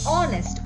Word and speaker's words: honest: word is ornis where again h is silent and we pronounce the word as honest o the third word